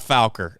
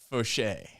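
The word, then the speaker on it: Faucher: And someone was like, no, it's not Fowler. It's Fauché. It's big league pronunciation. Yeah. I don't know how they got Fauché out of that, but sure.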